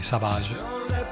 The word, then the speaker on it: Savage: Io ero appassionato di un fumetto che si intitolava Doc Savage e mi piaceva la parola Savage però pronunciata alla francese, Savage.